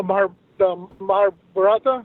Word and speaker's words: Mahabharata: And I feel that a lot of people, they should study the Mahabharata.